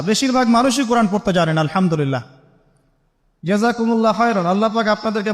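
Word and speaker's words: الحمد لله: এইতো আপনি পড়ছেন আলহামদুলিল্লাহ। শব্দটা কি? আলহামদুলিল্লাহ। এই হা এর মাখরাজ কোথায়? হা এর মাখরাজ কোথায়? বলেন একজন কন্ঠনালীর মাঝখান থেকে এখান থেকে আপনি উচ্চারণ করছেন আলহামদুলিল্লাহি রাব্বিল আলামিন অর্থ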